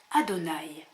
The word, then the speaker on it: Adonaï: parce que en effet les Hébreux les Juifs ne prononcent pas Yahé ils mettent d'autres voyelles de sorte que quand il voit les lettres juives y e vav e il prononce Adonaï et que signifie Adonaï